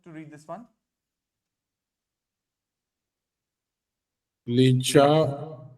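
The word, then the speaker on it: lit: ली Lee okay Lee एल आईटी spelling L आईटी है हां और पढ़ते ली है ली ल और बड़ी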